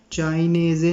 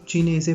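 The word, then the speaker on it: cinese: इसको चाइनेज़े नहीं पढ़ने आपने, इसको चीनेज़े पढ़ेंगे, ठीक है।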